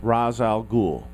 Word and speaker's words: Ra's al Ghul: eight nine whatever and we always start with Ra's al Ghul yes that is how you pronounce it and Ra's al Ghul is from